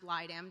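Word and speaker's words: Blegdam: the blide M hospital it's pretty it is pronounced blide M despite the spelling and this was the Infectious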